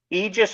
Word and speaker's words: Aegis: well thank you and as far as the pronunciation goes Aegis or Aegis are both acceptable um pronunciations of the name we go with Aegis because from what I could tell it was probably the more the old school original type close to the original so I mean the